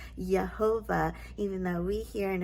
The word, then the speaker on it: Yehovah: stated in yesterday's video there is no J sound in the Hebrew language it is a y sound so it's actually pronounced yahovah even though we here in America typically say Jehovah either way is okay